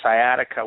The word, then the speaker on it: sciatica: Now, I did watch your video on how you healed a man with, if I'm saying it correctly, sciatica.